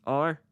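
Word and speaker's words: あれ: over there and which which in Japanese are re sorry pronounced so re pronounced a re and Dory pronounced so that's foreign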